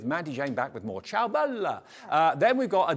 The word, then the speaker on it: Ciao Bella: new from Ciao Bella you've got to say it like that ciao bella bella The Farmhouse garden collection